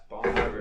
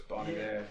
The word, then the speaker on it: Bon Iver: Bon Iver. But Bon Iver. Yeah. Are you listening to Forever Forever again? No, I was not. I was listening to. It's French apparently, so it's Bon Iver.